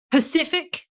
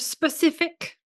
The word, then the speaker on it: specific: Pacific instead of specific.